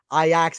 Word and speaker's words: Ajax: Ajax is how you pronounce it.